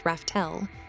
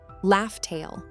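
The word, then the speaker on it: Laugh Tale: Roger named the island where Joy Boy left the One Piece Raftel. But as we later found out, the real pronunciation was actually LFail. Now when you write Loft Tale in Japanese, it looks completely different from Rafel.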